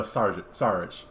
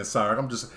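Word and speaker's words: Šarić: To pronounce his name is Dario Saric. You guys were messing it up saying Sarek. I gotta correct y'all. I feel like I gotta do my job here. He said Sarek. I'm gonna correct y'all right here because y'all was pronouncing the C without the CH.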